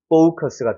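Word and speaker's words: focus: 어디요 여기 강세가 있습니다 근데 이거 이중 모음이에요 그래서가 강세가 들어가면 대표 발음을 때 아 사운드로 나지만 오 사운드로 나오기 때문에 포커스가 되는 거예요 포커스 그러니까 커스가 아니라 약간 코스처럼 넘어가는 거죠 포커스 여기 같은 경우도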